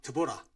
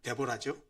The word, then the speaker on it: 드보라: 사사에는 12명의 사사가 기록되어 있는데 어 우리가 지난번까지 맨 먼저 여사 드보라 어 영어 발음으로 데보라죠.